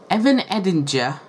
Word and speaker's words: Evan Edinger: i'm going to say evan and agent words evan edinger did it yeah that's how you say his